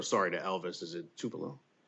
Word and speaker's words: Tupelo: Is it Tupelo? Tupelo. Looking at a very large industrial asset in Tupelo as well.